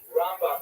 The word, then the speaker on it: Rambam: Rambam is pronounced with the emphasis on the first, on the second syllable. Rambam and Ramban. That's also helpful because if you can't quite make out the N or the M difference, then it helps to hear the accent.